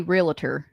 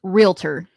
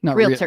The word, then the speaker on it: realtor: I always want to say realtor. It's realtor. Yeah. It's got two syllables, not three. Realtor.